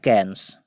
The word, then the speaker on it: Cairns: एक शहर, ये है कैन्स। इस शहर का नाम है कैन्स। तो अगर आपको स्पष्ट नहीं है तो स्पेलिंग इसका है CAIRNS, इसका प्रोनाउंसिएशन है कैन्स।